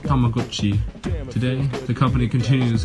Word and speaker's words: Tamagotchi: Properly pronounced Tamagotchi, today the company continues its 90s trek with technology, adding infrared communication to newer models.